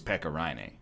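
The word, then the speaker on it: Pekka Rinne: about you not me cuz his name is Pekka Ronnie it's a good movie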